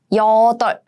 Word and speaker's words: 여덟: It means 8. 여덟. And this is a tricky one because this is a basic rule. So you are supposed to pronounce this one, the 받침 on the left side.